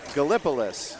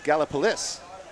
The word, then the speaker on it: Gallipolis: West Virginia called uh what looks like Gallipolis but it's not it's gipis cuz why not Chris